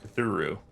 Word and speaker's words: Cthulhu: No, they're not saying Cthulhu right. It's Cthulhu. I like how I wasn't saying it right. It's officially supposed to be Cthulhu. The L is like an R.